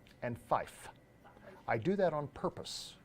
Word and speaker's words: five: n/m have you guys noticed the way I pronounced three and five have you noticed that tree and Fife I do that on purpose why do I